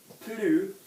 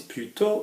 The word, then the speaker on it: plutôt: one is plutôt and one is plutôt. Okay, so there's kind of a pronunciation difference. Plutôt, two different words, and plutôt, one word, okay? Plutôt, we kind of stress the plus a little bit more on the instead version.